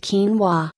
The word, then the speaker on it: quinoa: Quinoa, a high-protein grain native to South America, pronounced quinoa.